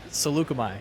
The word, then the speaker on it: Saleucami: I can't pronounce that. Saleucami.